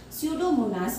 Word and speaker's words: Pseudomonas: Pseudomonas bacteria. Here P is silent.